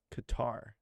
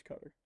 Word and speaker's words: Qatar: QA q r yeah it depends on how you pronounce it but I think the technical term is cutter yeah see when you